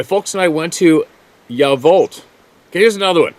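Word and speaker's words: Yacolt: and I went to yavolt okay here's another one not gonna sound like that that that uh crotchety old guy it's spelled y-a-c-o-l-t but it's pronounced yeah vault well why don't they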